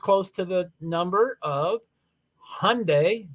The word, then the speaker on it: Hyundai: to the number of Hyundai rhymes with Sunday Hyundai Elantra that the